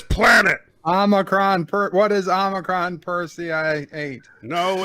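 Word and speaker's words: Omicron Persei 8: ruler of this planet omicron per what is omicron per ci eight no it's what is omicron perseid yes that's what i said you didn't say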